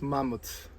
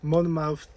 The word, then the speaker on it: Monmouth: i mispronounced the name i think it's you you pronounce it mouth not mammoth but anyway monmouth uh coffee roast and